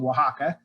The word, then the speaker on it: Oaxaca: Oaxaca. It's in South Mexico, southwestern Mexico on the Pacific coast. Oaxaca is the name of the state, as well as the main city. So it's Oaxaca State, and then its capital, Oaxaca City.